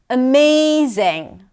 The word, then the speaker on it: amazing: Amazing. May. That's the primary stress. Zing. Amazing.